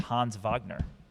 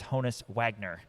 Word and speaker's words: Honus Wagner: So I think we can It's actually It's actually since he's German, it's actually pronounced Hans Vagner.